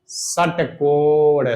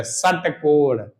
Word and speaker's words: षटकोण: इसे मूर्धन कहा जाता है क्योंकि इसका उच्चारण करते समय जीभ मुंह के ऊपरी हिस्से यानी मूर्दा को स्पर्श करती है। जैसे षटकोण षटकोण षटकोण तो जीभ देखो ऊपरी हिस्से पर जा रही है।